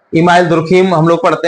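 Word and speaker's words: Durkheim: हिंदी में जो प्रोनाउंसिएशन है मोस्टली हम लोग दुर्खम ही बोलते हैं इनके लिए। लेकिन जब आप इंग्लिश का प्रोनाउंसिएशन आप इसको देखेंगे पढ़ेंगे तो इनको डारकाइम कहा जाता है।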